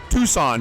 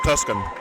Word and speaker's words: Tucson: If you just look at the word Tucson, it really looks like she pronounced Tuscan. But that's not how it's pronounced, so.